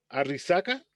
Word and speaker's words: Arrixaca: investigador del hospital clínico universitario virgen de la arrixaca shi huang xing si me corrige la pronunciación arrixaca arrixaca y la verdad que el nombre es